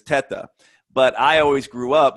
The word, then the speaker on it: Teta: So I'm Italian, so the correct pronunciation is Teta. But I always grew up with the pronunciation Teta through my whole family,